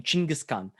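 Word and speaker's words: Chinggis Khan: khan just means emperor so kangaskhan is kind of the english way of saying chingiskan and so basically they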